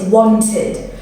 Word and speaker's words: wanted: Another one is wanted. So that if the word ends in T or D, you pronounce the ED as id.